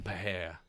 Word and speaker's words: Pereira: Pereira.